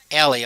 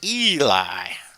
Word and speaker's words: Eli: Hannah Menard still in the circle, and I've been calling Celine Ellie all along, but I've just been informed her name is Eli.